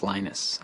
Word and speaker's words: Linus: Swedish it's a Venus when I speak Finnish it's Linus when I speak English it's Linus and I really don't